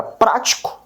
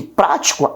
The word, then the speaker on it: prático: Eu tenho a palavra prático, né? Percebe que prático, o pra, ele é pronunciado com mais força.